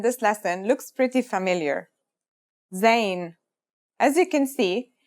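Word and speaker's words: ز: a DOT on top in terms of pronunciation you say it just like the English Z as in zebra or Al jaaz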